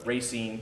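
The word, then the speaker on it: Racine: out of poverty going to to with uh racing y That's how you pronounce it Racing Wisconsin and then you rising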